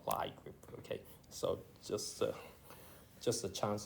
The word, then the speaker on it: Lie group: So but it turned out that it's actually Lie group, not Lie group.